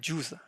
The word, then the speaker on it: JUCE: Juice. Juce. Juice? Some audio framework? It sounds fun. Pronounced as juice.